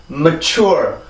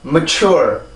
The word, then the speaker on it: mature: 자, 그래서 이 발음은 추워. 이게 아니라 chur 이렇게 발음을 해주는 게 바로 요 음절인 거예요. 그래서 여기와 다시 섞어보면 mature 한 번 더 mature.